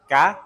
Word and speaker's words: cá: Fish, ka? Ka. Ka. Fish, you say? Cá.